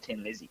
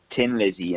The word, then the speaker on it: Thin Lizzy: Tin Lizzy, but Phil Lynott decided to add in the H because no Irish person ever pronounces the TH, so it would always be Tin Lizzy instead of Thin Lizzy.